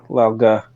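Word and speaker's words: Lao Ge: yeah, Lauga. Lao I think Ge. it's pronounced Lauga.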